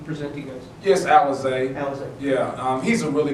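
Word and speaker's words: Alize: I don't know how to say his name, Alonzo Johnson? What did he present to you guys? Yes, Alizé.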